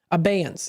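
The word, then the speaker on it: abeyance: Uh, abance. Abance. Aance, I think, is how it's pronounced maybe. Obeyance. Obeyance.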